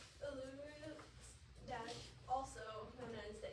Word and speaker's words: Uluru: And is it pronounced Uluru or Uluru? Uluru. Uluru.